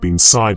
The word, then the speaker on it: bean sídhe: The pronunciation of binsside itself carries a kind of music, a melody that hints at the keening cry for which she is famous. The soft sh sound of side whispers like wind through